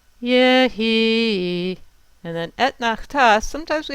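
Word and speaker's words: יְהִי: So we need to make the accent on the he. And it's Yehi.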